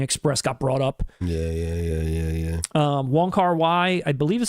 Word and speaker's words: Wong Kar-wai: Wong Kar-wai, I believe is how you say the director's name.